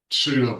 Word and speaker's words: pseudo: Pseudo brother-in-law. Can you even spell pseudo? PSEUDO. Very good. I didn't hear you pronounce a P in that word.